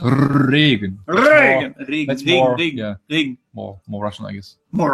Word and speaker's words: Regen: It's soft, he says. It's not Regen, it's Regen. Regen. Yeah, you don't have to roll it that hard. And I made a video about how to pronounce the German R. Look it up on my YouTube channel. Exactly. Try to purr like a cat. You know? Regen. It comes from the throat.